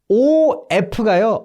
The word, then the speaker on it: of: 요 OF가요 of 실제로 발음이 V라고 나거든요.